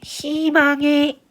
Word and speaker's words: 희망: 그래서 이렇게 희망처럼 위에 자음이 있는 친구들, 자음이 있는 친구들은 무조건 의를 이로만 읽어야 합니다. 이로만 읽지 이것을 의로 읽어서는 안 돼요.